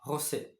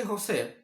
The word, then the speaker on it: José: In Spanish, is Jose. It's not Jose, Jose. If you say Jose, and a Portuguese or Brazilian person hears you, you will be stabbed. You'll be stabbed to death.